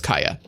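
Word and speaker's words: Kaeya: and I was like, I want to say Kaya, but I feel like Kaya would be spelled K-A-I-Y-A. But it's spelled K-A-E-Y-A, so it's probably Kaya. And then now they're actually saying it out loud and it's Kaya.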